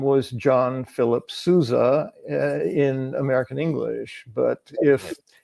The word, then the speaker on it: Sousa: name was John philli Souza in American English but if if that because that's a Portuguese name it would be pronounced SOA yes indeed and so